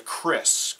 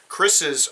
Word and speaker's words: kris: The first one we'll look at is this one here, which is a kris. K-R-I-S is how it's spelled.